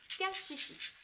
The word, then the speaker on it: kaksiksi: le kashishi, qui s'écrit kaksiksi, mais j'ai appris il n'y a pas très longtemps que ça se disait kashishi.